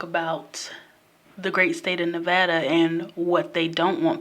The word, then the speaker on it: Nevada: Las Vegas Strip in Nevada and yes it's pronounced Nevada not Nevada someone from Nevada told me that okay so